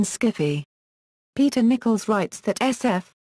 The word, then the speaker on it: skiffy: fiction, and around 1978, Susan Wood and others introduced the pronunciation skiffy.